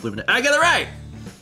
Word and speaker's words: Luminea: And there's a pronunciation guide at the top. Luminea.